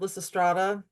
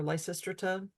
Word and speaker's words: Lysistrata: Like there's a play called Lysistrata or Lysistrata. Take your pick on the pronunciation. I've heard both.